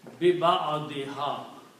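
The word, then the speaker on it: بِبَعْضِهَا: So when you read all these three words combined, you will pronounce biba'adiha, with a piece of it or with a part of it, the cow.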